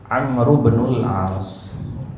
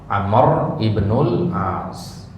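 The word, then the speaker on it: عمرو بن العاص: kita temukan gitu ya yang benar pengucapan nama sahabat itu adalah digabung Amru bnul as Amru bnul As hanya saja sering kita dengarnya apa Amr Ibnul As ya untuk memudahkan aja Amr Ibnul As atau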